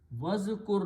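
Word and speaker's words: وَاذْكُرْ: Wow, when you have a wow, you don't pronounce this alif.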